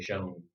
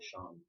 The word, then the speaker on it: shone: And Americans say shone, like the sun shone brightly on my old Kentucky home. That's right. But Canadians and those in the Commonwealth say Sean.